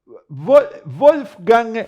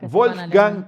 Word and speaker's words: Wolfgang: Wolfgang, creo que se pronuncia, ¿no? En alemán. Wolfgang, como Mozart. Sí. Wolfgang, el mismo nombre que Mozart.